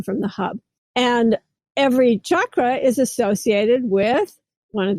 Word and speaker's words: chakra: pronounce the word because everyone's calling them chakras, and there's no such word as chakra in the English language or the Sanskrit language.